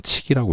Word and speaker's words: 則: 이때는 이제 명사일 때는 칙이라고 읽겠죠. 그죠? 칙이라고 읽을 겁니다.